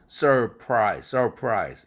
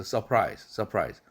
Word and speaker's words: surprise: 그래서 surprise 힘들지 않습니까? 그래서 surprise 훨씬 편하죠? 그래서 반복되는 R 사운드 앞에 나와 있는 R 사운드 보고 발음하지 마라 이겁니다.